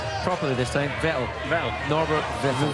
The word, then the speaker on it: Vettel: Vettel. Norbert Vettel. Vettel as in kettle.